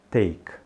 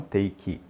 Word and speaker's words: take: verbo pegar ou tomar você vai dizer take take e não take Ok quando você fala